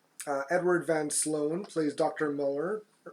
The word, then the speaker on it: Muller: Muller, but they pronounce it like Miller. Yeah. It's a funny pronunciation of Muller.